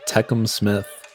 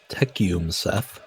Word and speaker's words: Tecumseth: the Calgary vipers and the techum the techum Smith nope teum Seth X extreme I like the